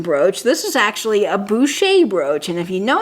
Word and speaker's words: Boucher: is really high quality now boucher looks like voucher but it is actually pronounced boucher and i'm so glad